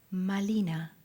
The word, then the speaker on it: Malina: Malinzin y ella se dijo a sí mismo, malina porque la r no se podía pronunciar en el nawat.